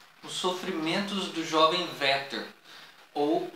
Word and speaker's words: Werther: ó sofrimentos do jovem werther ou o sofrimento do jovem é é ter como alguns bastante pronunciar mas o certo é que mesmo em alemão todo o w ele tem o som de ver é por isso é